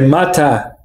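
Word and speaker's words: マッハ: A pronúncia em japonês é Mata. Seria Mata Go Go Go.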